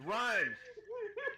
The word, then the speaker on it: Reims: No, pronounce it right as Brian pronounced it. It's Rhymes. Okay, it's Reims, France. R-H-Y-M-E-S, Rhymes.